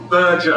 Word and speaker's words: Berger: And the pronunciation is Berger, a hard G like merger.